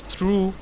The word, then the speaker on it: thorough: এখানে একটা ব্যাপার আছে, thorough, থ্রু আর হচ্ছে দো, তিনটার কিন্তু কাছাকাছি বানান, এই কারণে আমরা মাঝে মধ্যে উচ্চারণে ভুল করি, তাই না মিস্তনু? আপনি তো থ্রু বলছিলেন, এটা থরো।